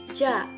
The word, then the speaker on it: ja: Nah, contohnya ada ja. Ja itu artinya yes, tetapi dalam bahasa Jerman itu dibacanya ya.